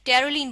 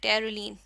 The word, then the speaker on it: Terylene: Condensation polymerisation से ही हमारे पास बनता है टेरोलीन, बनता है टेरोलीन, टेरोलीन। इसकी स्पेलिंग हम थोड़ी सी यहाँ से चेंज कर